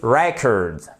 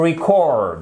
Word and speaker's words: record: Mais par contre, alors là, vous allez me détester, enregistrer se dit to record. Vous voyez, vous avez l'accentuation non plus sur la première syllabe comme ici, mais sur la deuxième.